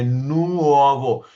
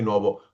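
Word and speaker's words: nuovo: मिसाल के बाद हम बोलेंगे नुओवो, हम नहीं बोलेंगे नोवो, हम एक एक अल्फाबेट पढ़ते हैं।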